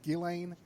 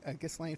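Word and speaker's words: Ghislaine: woman hates that well she shouldn't have put that s in her name if she didn't want people mispronouncing it so well anyway what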